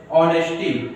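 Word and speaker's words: honesty: जैसे ऑनेस्टी, देखो हा से प्रारंभ होगा, ऑनेस्टी, तो एन ऑनेस्टी होगा, एन अवर, देखो हा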